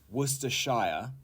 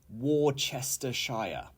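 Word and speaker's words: Worcestershire: a sherbet all right number six is werer or worshire you can say however worshire is more common and it is not Wester Shire okay or anything else it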